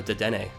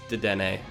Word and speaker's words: Dedenne: how it's pronounced it it's related to the French pronunciation or the French form of the word antenna and I looked up the anime pronunciation so it's dedenne or did any but